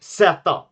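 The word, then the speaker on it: zäta: I might just be cooked out of my mind that we say set, which is just the Swedish way to say zeta, the Greek pronunciation of this letter.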